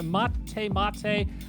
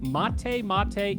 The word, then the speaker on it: Mate Mate: is type exclamation point mate mate into twitch chat now for the layman's out there that's m-a-t-e-m-a-t-e spelled like mate pronounced like mate each winner gets two